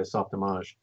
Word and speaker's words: Softimage: so it's Softimage but it's pronounced the French way Softimage Autodesk bought it and